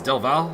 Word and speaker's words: del Valle: has taken the lead throws pronounced delvia I believe it is del Valle I've been told this I think Martin